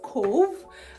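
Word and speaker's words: Cobh: place in Ireland called Cove and it's funny because it's pronounced Cove but it's literally spelled c o b h which is one of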